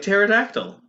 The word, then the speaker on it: pterodactyl: about the assignment okay where would you put the p in front of the t like pterodactyl yeah nobody's gonna get i think i think everyone would get that it's the silent p all right maybe we